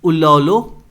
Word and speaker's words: उल्लोल: In Sanskrit the wave arising afternoon due to lake extents are called ललो, नहीं ये ललो नहीं है, इट्स उल्लोलो, जो भी प्रोनाउंस होगा, ठीक है, मतलब समझ जाना आप.